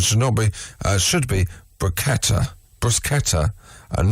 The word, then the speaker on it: bruschetta: is should be pronounced sound therefore the correct pronunciation shinobi uh should be baketa bruschetta and not bruschetta you're summoned back on florence italy it's good